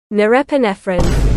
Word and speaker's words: Norepinephrine: Nori, norepine, however the heck you pronounce it. Norepinephrine.